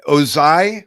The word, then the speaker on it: Ozai: Ozai, I believe it's pronounced. It's spelled O-Z-A-I.